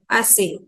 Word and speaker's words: assez: If the word ends with Z, again the Z will be silent in this. It will become assez.